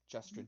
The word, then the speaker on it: Justrin: Justrin, do you need me to spell it out for you? Yeah. Yes. Really? Yes. It's like just Rin. Justrin, yeah. Yeah. See? It's like Justin Or with an R.